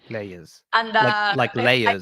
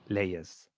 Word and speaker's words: Layes: Lees. I mean, in Argentina they say Lees, but it's the only country I say Lees, but then it's like Lees. Leers.